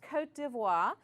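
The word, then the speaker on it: Côte d'Ivoire: Sierra Leone and Liberia the next country has a French name it's pronounced Cote d'Ivoire but we would say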